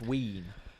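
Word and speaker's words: wīn: just v-i-n yeah well w-i-n sorry which is pronounced wean why do the English always make it themselves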